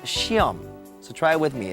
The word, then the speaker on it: 시험: Now, it's spelled 시험, but it's pronounced 시험.